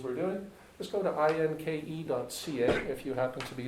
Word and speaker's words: INKE: We call it INKE, which people said also rhymed with stinky.